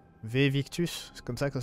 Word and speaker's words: Victus: On va ramener les preuves à Victus, c'est comme ça que ça se prononce.